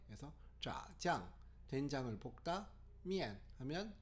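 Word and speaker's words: 面: 근데 미안이라고 읽는 게 아니라 미엔이라고 읽습니다. 제가 한번 중국어로 읽어보겠습니다. 미엔.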